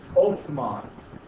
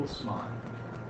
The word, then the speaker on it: Osman: When he does so, the Western Europeans start referring to these people as Othman. It's a mispronunciation of Osman, or Ottoman.